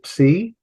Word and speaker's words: psi: This is a psi. It looks like Poseidon's trident. In fact, the word Poseidon would begin with a psi, and both ways there, and it's pronounced ps.